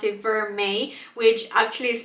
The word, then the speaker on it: vermeil: is spelled in a certain way, but you pronounce it vermeil, which actually is spelled out really nicely here.